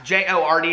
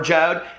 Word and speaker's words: Jord: It's J-O-R-D, but it's pronounced Jord or Jode.